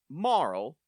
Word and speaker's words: Marle: Um, and she introduces herself as, "Now, Dana, you wrote Marl, as in it rhymes with Snarl, but I I much prefer Marley because Marl is a crazy name for a person.